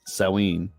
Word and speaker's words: Samhain: to the ancient Celtic Festival of Samhain or pronounced saween the Celts who lived 2000 years ago mostly